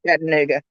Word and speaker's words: Chattanooga: you from chattanooga no 30 miles north of chattanooga okay there we go for malibu barbie okay